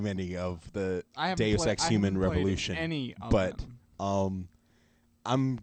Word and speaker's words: Deus Ex: care okay moving on Deuce X the fall now Deuce access Deus Ex sorry yeah about to say